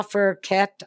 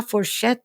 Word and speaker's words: fourchette: And he was speaking his French, which was La Fourquette and Le Couteau. And when I was at Coleraine, I was going, Daddy, that's not how you pronounce it. It's La Fourchette and La Couteau.